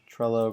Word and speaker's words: Trello: we'll call it uh Trello clone or actually let's come up with like a unique name how about like something that rhymes with Trello like uh I just realized that trell rhymes with hello and I'm wondering if